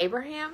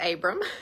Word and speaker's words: Abram: really hard for people they want to be like Abraham I'm like Abram or Abraham and it's just Abram I love it I